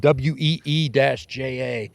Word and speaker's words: Ouija: You know, and they'll even say in some of their ads, Ouija, WEE-JA.